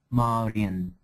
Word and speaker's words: Marion: Marion, no, this should be pronounced as Marian.